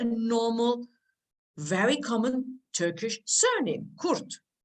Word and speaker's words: Kurt: very common Turkish surname, Kurt. Normally we would pronounce it as Kurt. Kurt is fine as well.